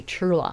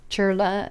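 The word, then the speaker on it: CHIRLA: The grant was given to, there it is, Coalition for Human Immigrants Rights, C H I R L A, Chura I think is how you pronounce it, a Los Angelesbased nonprofit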